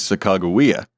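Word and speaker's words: Sacagawea: One of these nameless women is now the famous Sak Chicagoa. Now, real quick, the pronunciation I just used and will continue to use is not all that common unless you're also deep down this rabbit hole.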